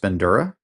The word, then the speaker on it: Bandura: So Albert, I believe his name is pronounced Bandura, Albert Bandura's foundation, uh, they contributed this to psychology um, by creating one of the most robust theories that we have.